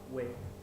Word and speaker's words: whey: And sometimes I take slices of whey. Yeah, whey. W-H-E-Y. W-H-E-Y. W-H-E-Y. Whey. H sound will be silent, then will be the pronunciation will be way.